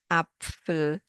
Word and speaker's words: Apfel: We pronounce them as one sound, like in Pfanne, Pfote, Apfel, Napf, Krapfen.